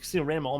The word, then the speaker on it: Rama: rama i don't know but i was calling ram all my life and then you guys told me it's not pronounced random it's pronounced rama dude i hurt my feelings